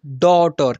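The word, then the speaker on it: daughter: है कॉज यहां पर डी ए यू जी एच टी ई आर इसे पढ़ेंगे डॉटर क्या पढ़ेंगे बच्चों डॉटर और उच्चारण करना भी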